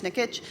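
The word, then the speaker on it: Nikic: sun is quick uh chris nick nikitch that's how he pronounces the name chris nickitch he's the first person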